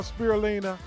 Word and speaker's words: spirulina: benefits of what's called spirulina is how you pronounce it we're going to take a look at this video on spirulina and then we're going to dive into it